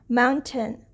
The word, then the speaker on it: mountain: uh sparing like mountain we have the long a here a here because of schwa we would read it as mountain mountain only an ah sound will come here mountain if this is chocolate